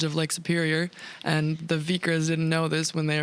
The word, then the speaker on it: Vikre: get the name right you're with vikra distillery yep vikra yeah which it's uh it looks very different how do you spell it v-i-k-r-e okay that doesn't look like vikra to me but that's cool